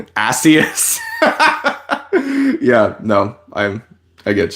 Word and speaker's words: Asus: Don't use the RS pronunciation because it means ass in Britain. Asus.